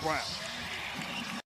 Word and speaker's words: Braun: Turnovers and out in transition, which lead to open three-pointers, as Brown, whose name is spelled Braun, but pronounced Brown.